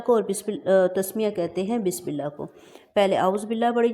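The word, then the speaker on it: بسم الله: بس سیٹی کی آواز، بسم اللہ، یہاں پہ ہم لفظ اللہ کو اب بولٹ نہیں بولیں گے، باریک بولیں گے، کیونکہ لفظ اللہ کے لام سے پہلے زیر آئی ہے۔ بسم اللہ الرحمن، ہر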